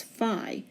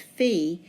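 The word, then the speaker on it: phi: letter elsewhere pronounced as fi a lot of times when it's used in the name of a club like f Theta Kappa they pronounce it as fi but in mathematics it's always pronounced fee and this happens to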